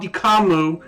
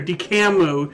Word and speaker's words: DCAMU: you've heard of it it's called dikamu or dicamu depending how you pronounce it d-c-a-m-u because again the um